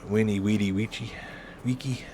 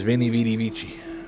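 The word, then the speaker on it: veni, vidi, vici: Then again, it's funny how sometimes Latin phrases get mispronounced and it becomes pretty much standard to mispronounce them like uh weeny weedy witchy wiki I think it is. Everybody says vinnie vidy vichi.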